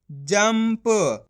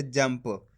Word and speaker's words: जंप: जाम अनुस्वार की मात्रा जम प, तो मिलके बन जाएगा जंप। अब अपन ने शब्द के अंदर आधा माँ का उच्चारण करा है, किसका करा है, आधा माँ का। किस तरीके से, इस तरीके से, जंप।